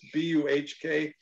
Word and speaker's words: Buhk: ghastly topics, and that his last name rhymes with spook, but it's B-U-H-K, pronounced Buhk.